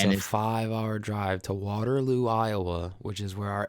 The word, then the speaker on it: Waterloo: So the people there pronounce it differently. We said like Waterloo. They go Waterloo. They put it on the LU.